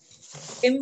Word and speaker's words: hymn: तो ये भजन होता है, तो होता है भजन, हिम बोलते हैं, इसमें एन साइलेंट होता है, सौरभ।